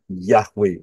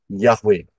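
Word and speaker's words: Yahweh: nama Elohim kita yaitu yahwe bacanya dari kanan ya y he W he y h w h dari kanan ke kiri yahwe Nah kalau kita lihat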